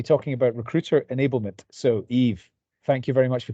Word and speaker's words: Yves: here today so correct you did pronounce my name very well actually my name is Eve I am um